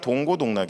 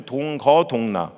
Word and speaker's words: 동고동락: 분들이 많이 계시더라구요 여러 원래 맞는 말은 동고동락 입니다 고통도 어려움도 함께 하고 기쁨도 함께 한다 라는 동해의 의미입니다 근데 발음이 비슷하다 보니까 많은 분들이 동거동락 그냥 함께 살면서 기쁨을